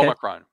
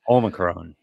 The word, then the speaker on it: Omicron: Omicron. That is how it's spelled, and that's how it should be pronounced. And Omicron.